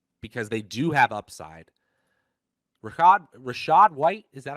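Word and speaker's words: Rachaad White: Rashad White, is that how you say it?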